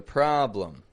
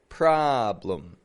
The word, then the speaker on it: problem: problem it was a problem notice I'm not saying problem the spelling is b l eem but awah could be any letter and there it is right there problem problem in the second syllable notice also the article